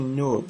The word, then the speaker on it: Knobe: It's actually Knobe, so any letter that could be silent is pronounced silently. Okay, Knobe.